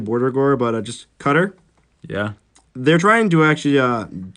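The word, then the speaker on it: Qatar: by the way yeah it's about Q a TA our cutter because that's how you spell that yeah it's just stabbing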